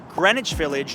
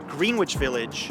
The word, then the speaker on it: Greenwich Village: explore is this one pronounced Greenwich Village not green witch Village and if you go